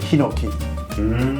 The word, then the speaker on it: Hinoki: になんと日本語でヒノキ、H 発音できないからフランス人だったらイノキってプロレスラー